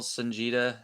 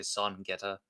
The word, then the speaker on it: Songeta: channel, Sanjita, and you say it kind of like son, like somebody's son, and it's a long E, so Jita. I say I don't say my name too often in the videos, but a lot of people say Son Geta.